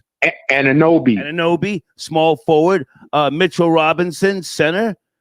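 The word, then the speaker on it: Anunoby: Anawabi? Ananobi, small forward.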